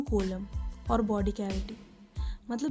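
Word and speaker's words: coelom: now let's talk about Kollam C ओ ए एल ओ एम एंड it's pronounced Kollam this इसे D body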